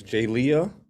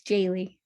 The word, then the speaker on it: Jaylee: pronouncing your name right it's jay leah uh it's jaylee jaylee okay jaylee thank you